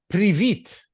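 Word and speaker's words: Привіт: Privit.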